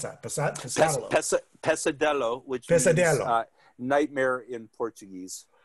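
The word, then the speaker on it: pesadelo: all right so passadelo pasado how do you pronounce that pesa pesadello which is nightmare in portuguese all right so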